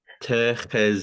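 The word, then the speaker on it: תחזקי: So tahaki, tahaki, Tehezki. Ski. tahazki, Yeah, tahaz. and remember you don't see an accent mark, so your stressed syllable is going to be at the end.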